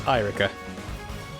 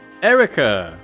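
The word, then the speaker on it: Eirika: My name is Erica. Erica! So the I is just superfluous.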